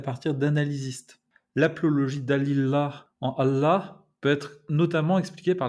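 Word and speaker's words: الله: Si vous voulez sonner vraiment authentique, il faut prononcer Allah, Allah, Allah, avec un L emphatique.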